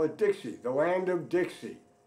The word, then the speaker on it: dix: And, you know, the French word for 10 is D-I-X, dix. But you don't pronounce DX.